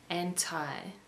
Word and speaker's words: anti: Anti is pronounced differently in American English, kind of like this, anti.